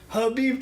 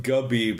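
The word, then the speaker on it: Khabib: And he was like, "Habib time," and the next time he's like, Habib time. He actually said it right. Yeah. Well, he called him Gabib a couple times at the press Gabib.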